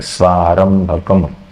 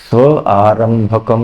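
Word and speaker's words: स्वारम्भकम्: करना है सारं भक क्योंकि यह संधि जुड़ गया उच्चारण करते समय दोनों को जोड़ के बोलना है स्वार भ कम स्व आरंभ कम नहीं बोलना है व उसको श्लोक को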